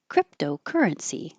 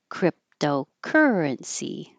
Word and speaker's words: cryptocurrency: I underlined cry because this would be secondary stress and secondary stress is longer but not higher. So currency is the primary. It's higher and longer. If they were both primary, it would sound like cryptocurrency, but it's not. It's cryptocurrency. Cryptocurrency.